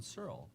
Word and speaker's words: Searle: Searle. Is that correct? That is correct. It's not a name a lot of people pronounce correctly first, so congratulations on that.